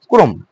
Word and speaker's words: ক্রম: এই শব্দের প্রথমে কি রয়েছে? প্রথমে ব্যঞ্জন বর্ণ যুক্ত রয়েছে এবং র ফলা রয়েছে, কিন্তু ওই রেফ রেফ রয়েছে না, সে কারণে ওই অটা উচ্চারণ কি হবে? ও হয়ে যাবে, ক্রম।